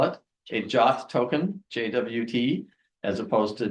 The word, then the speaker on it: JWT: And JWT, I actually looked it up, and JWT is supposed to be pronounced JOT. So that's what I'll call it, a JOT token, JWT, as opposed to JWT or JWT or whatever.